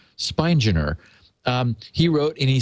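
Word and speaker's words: Spigner: It's s pi g n e r spineer.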